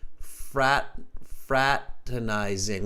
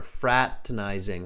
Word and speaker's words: fraternizing: Watch the pronunciation here. Everybody repeat after me. Fraternizing. We don't pronounce that second R. Fraternizing.